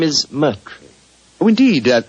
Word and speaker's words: Moriarty: I'm afraid I'll have to begin calling it the way it looks. m o r i a r t y Moriarty.